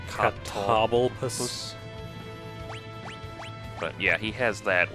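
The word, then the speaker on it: Catoblepas: Well, I'm trying to see if I can pronounce it like table, but it's like toble? Cobble. So it's like Catoblopus.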